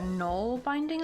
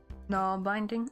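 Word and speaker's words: nålbindning: it was okay so in Swedish it's pronounced like a o null bind so it's like a null binding I guess n binding oh so not like n binding like null binding probably can like probably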